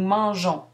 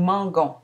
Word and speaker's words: mangeons: Nous mangeons. Ici, on conserve le E devant ONS pour adoucir le G. Sans le E, on prononcerait nous mangons.